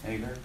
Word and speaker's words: Hagar: So, isn't Hagar, is that how you pronounce it? In English, yeah. Yeah, Hagar.